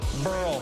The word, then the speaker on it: Burrell: Pat Burrell, rhymes with Pearl, off Carpenter.